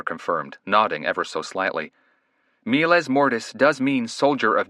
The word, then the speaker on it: miles: The first word isn't pronounced Miles, it's pronounced Miles.